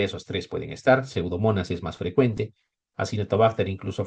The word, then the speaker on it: Pseudomonas: Por ejemplo, eh pseudomonas cerinosa. Ya saben, se escribe pseudomonas. No, no me digan pseudomona, eso no estaría bien.